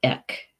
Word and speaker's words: each: BEC it's spelled EA CH and Gillick but pronounced ik horse and at first I thought this was